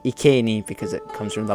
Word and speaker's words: Iceni: most people would say iini but the word ieni comes from Latin and in Latin you pronounce the C at least in classical Latin which is what the